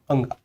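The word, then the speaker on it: ङ: अगर मैंने लिखा क, ख, ग, घ, अंगा, इसे कहते हैं अंगा। इसका जो उच्चारण है ना ये इस तरीके से होता है, अंगा की तरह।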